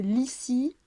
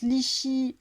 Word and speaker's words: Lixi: il s'orthographie L-I-X-I, c'est Lissi. Lissi, ça veut dire lisse en italien. Ça se prononce lichi, lichi ou ligi selon la langue, parce que c'est du sarde en fait.